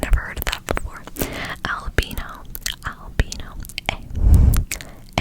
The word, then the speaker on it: Albino: pronunciation of it because I totally would have pronounced it wrong, but it's called, but their name is albino. I probably would have read it as albino, but it's albino. So A L B I N O, albino.